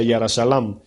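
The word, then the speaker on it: ירושלים: Es como decir Jerusalén, en el hebreo se pronuncia Yara Shalam.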